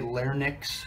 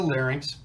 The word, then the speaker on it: larynx: here's the larynx again incidentally for those of you that say lair Nix you're saying it wrong but this is the larynx and trachea so then